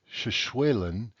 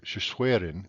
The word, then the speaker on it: Shishwelen: You will see and hear Shishwelen and Shishweren greetings for the same word, though the spelling with L is considered slightly more proper even if it is pronounced by someone as an R.